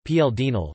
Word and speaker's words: Paul Deschanel: Paul Eugene Louis Deschanel, French pronunciation PL Dinel, the 13th of February 1855 in Cherbique, the 28th of April 1922, was a French statesman.